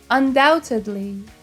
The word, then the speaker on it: undoubtedly: Undoubtedly. Notice here the B is silent.